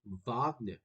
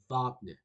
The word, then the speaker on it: Wagner: say his name is Wagner. I know it starts with a W, but in German you pronounce it as a V.